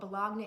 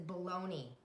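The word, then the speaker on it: bologna: bunch of balagna and if you don't know what balagna is it's baloney but it's how it's spelled don't ask me why I didn't make up the rules bagna there is very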